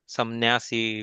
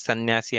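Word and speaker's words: संन्यासी: there, we हाँ, say we pronounced it as that Anuswar as Na, or even in Sannyasi, instead of pronouncing that as Ma, or we can say as Kamsari or Samnyasi, we say as Sannyasi and Kansari.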